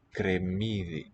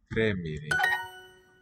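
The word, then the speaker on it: κρεμμύδι: Cremidi. Close syllable, it seems.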